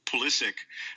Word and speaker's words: Pulisic: like a I don't just learned this the way he pronounces it is Pulisic, uh the 17-year-old at Dortmund.